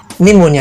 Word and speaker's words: pneumonia: तो इसका स्पेलिंग है PSYCHIATRIST, साइकियाट्रिस्ट। ये वर्ड एक वायरल इन्फेक्शन या बीमारी को कहते हैं। इसे निमोनिया कहते हैं।